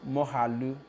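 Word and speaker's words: Moghalu: Mogalu is pronounced Mohalu.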